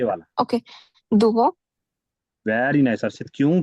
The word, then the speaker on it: doivent: दुवो। Very nice हर्षित, क्यों? क्योंकि मैंने अभी अभी बोला कि ENT को प्रोनाउंस नहीं करना है ना, हाँ जी सर।